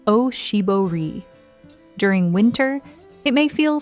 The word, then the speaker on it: oshibori: It is called an oshibori, pronounced oshibori.